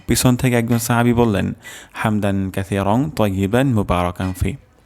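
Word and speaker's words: حَمْدًا: রব্বানা ওয়ালাকাল হামদ হামদান হামদান এখানে হাও হবে গলার মাঝখান থেকে উচ্চারণ হবে হামদান কাসিরং সা কাসি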